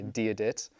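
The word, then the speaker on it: Dia dhuit: To say hello to someone, as you said before, you say diadit, and in response to that, you say diasmuerdit.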